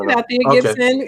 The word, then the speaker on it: Althea Gibson: I tried over and over to pronounce it properly. Althea Gibson? Am I saying? Yeah, that's Althea Gibson, a graduate of Tuskegee University, my alma mater.